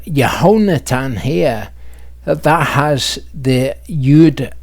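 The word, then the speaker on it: יהונתן: Hebrews read from right to left, of course, so that's Yud Hey Vav, and then you have the verb Natan, and that is pronounced Yehonatan.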